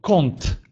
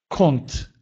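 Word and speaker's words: kąt: Перед звуками «т», «д», «ц», «дз», «дж» эти буквы произносятся как «он», «он». Например, слово «конт», «конт», «угол», «доконт», «доконт», «куда», «горонцо», «горонцо», «жарко», «мондри», «мондри», «умный».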